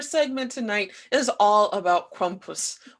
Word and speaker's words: Krampus: tonight is all about krompus or krampus as he's known about in the united states so for those of